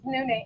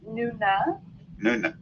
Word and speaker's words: Nune: and laura's account uh it's nune and my mom and dad pronounce it differently yeah so i am so open to pronunciations but i grew up as nuna but my college best